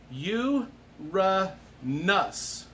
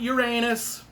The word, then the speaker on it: Uranus: so anyway it's pronounced you ra nus let's get that straight you ru nus not uranus so don't you wise guys